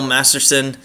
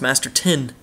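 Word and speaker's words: Masterton: Larson wins the bill Masterson Master tin sorry uh I probably say Masterson the whole time it's Master tin I never knew that uh Frank JK skki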